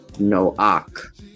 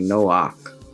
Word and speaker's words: Noach: So there's this whole story about Isaac coming as Noah, and they say his name is actually pronounced Noach. Right? Reminds me of the Ankh, actually, Noach.